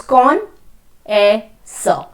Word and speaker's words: connoisseur: Connoisseur. No, the pronunciation is connoisseur. So it's con-a-sir, right?